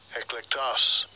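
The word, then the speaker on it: ἐκλεκτός: Eklektos.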